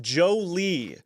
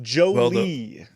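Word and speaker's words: Joly: is pronounced Jolie. It's spelled terrible for that season. Yeah. Well, not even cuz it's J O L Y. Yeah, that looks like Jolly to me.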